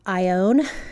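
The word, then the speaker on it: Ione: a really small town called ion it's spelled IO n e it's east of Sacramento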